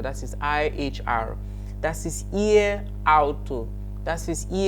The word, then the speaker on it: ihr: It is pronounced ear, just like your ears, obviously. It's pronounced ear, IHR. Please take note of the spelling and the pronunciation. IHR pronounced as ear.